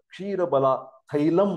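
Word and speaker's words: क्षीरबला तैलम: तो उसका अनेक तरीके से हम प्रोनाउंसिएशन कर सकते हैं, क्षीर बला तैल बोल सकते हैं। इसका मतलब होता है ये औषधि तैल है, सिद्ध तैल है या मेडिकेटेड तैल है। साउथ इंडिया में ज्यादातर क्षीर बला थैलम करके उसका प्रोनाउंसिएशन किया जाता है।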